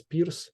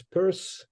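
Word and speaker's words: Peirce: so here in Ukraine this last name of Pur is pronounced as Pier and I I don't know why that's why why we were discussing something in Pittsburgh when you actually pronounced his last name is Pur I uh didn't get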